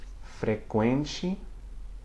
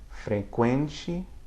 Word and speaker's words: frequente: And if you see the Q, U with an umlaut or a diaresis on the U, it sounds like a KW as well before E or I. But these words are not common, okay? Frequente and pinguim. Frequente, pinguim, okay?